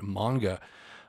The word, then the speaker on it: manga: always get that wrong it looks like manga but it's pronounced manga um but yeah again